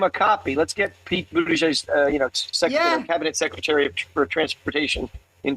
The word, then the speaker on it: Buttigieg: Transportation Secretary Pete Buttigieg. I think I pronounced it right.